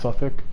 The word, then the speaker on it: Southwark: When you liberate, I forget which which place, I think it's Suffolk, or Southwark is spelled, but it's pronounced Suffolk.